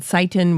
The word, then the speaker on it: Sytan: Now, last year when she was visiting gardens, this carrot called Seitan was getting high marks all around. It's spelled Sytan.